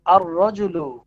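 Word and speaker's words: الرجل: হ্যাঁ, তারপরে হচ্ছে আর-রাজুলু। এখানে আলিফটা লিখাই থাকবে কিন্তু উচ্চারণে আসবে না।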